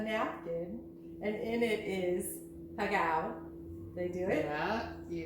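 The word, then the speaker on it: pegao: Pagao. Pagao.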